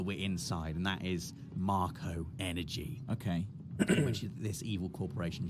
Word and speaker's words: Mako: this is a Mako reactor Dave officially pronounced Marco right but I've always I've would pronounced it make officially it is Marco though and you can see